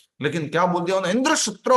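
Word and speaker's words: इन्द्रशत्रु: इंद्र शात्रो, पहले क्या बोलना था? इंद्र शत्रु, और इन्होंने क्या बोल दिया? इंद्र शात्रो।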